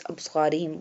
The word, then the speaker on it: أَبْصَارِهِمْ: وَأَبْصَارِهِمْ This one أَبْصَارِهِمْ pronounced like the previous أَبْصَارِهِمْ. We do qalqalah on ba and we bold pronounce the sad.